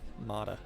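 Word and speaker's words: Motta: just want to race but the deal with motto is pretty bad he'll get most of what i win mata i've been saying it wrong the whole time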